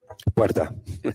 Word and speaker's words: Puerta: Perot, how do you say your last name, sir? Puerta. Puerta. It's okay, though. I understand. You can't roll the R's.